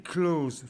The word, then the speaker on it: close: very close to Brother quand on prononce ça il faut que on il faut bien qu'on entende le S alors il faut pas confondre le verbe to be avec le close avec un autre Z qui est bien ayant